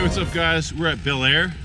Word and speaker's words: Belleayre: up guys we're at Bel Air that's how you say it Fresh Prince of Bel-Air so we're going to